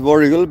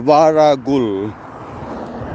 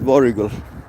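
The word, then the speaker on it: Warragul: so day three completed yesterday when we reached voral it's voral it's pronounced as waral but spelled as w a r a g u l varul but no one says varul everyone says vul this is also the next town where we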